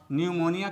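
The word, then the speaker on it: pneumonia: दोस्तों, यहाँ ध्यान देने वाली बात यह है कि साइलेंट लेटर पी यहाँ शुरू में ही आ जाता है। इस प्रकार से आप न्यूमोनिया का स्पेलिंग बहुत ही आसानी से लिख लेते हैं।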